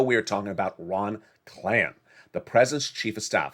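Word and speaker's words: Klain: a week ago we were talking about ron clan the president's chief of staff it's spelled k-l-a-i-n and what was he doing issuing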